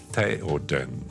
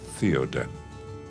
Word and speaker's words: Theoden: And it's Gandalf, not Gandalf. It's Gandalf. It is Saruman. It is Theoden, not Theoden.